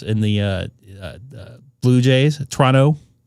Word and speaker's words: Toronto: when it split uh one uh 1-1 in Toronto and we're talking about baseball by the way, the Dodgers and the uh Blue Jays. Toronto, not Toronto.